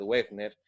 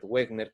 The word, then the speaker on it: Wegener: sí Alfred wegner sí Alfred se escribe Alfred wegener pero creo que se pronuncia Alfred wegner un geólogo uno de